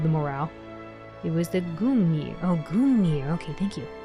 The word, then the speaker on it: Gungnir: I can never pronounce this weapon correctly. Gungnir.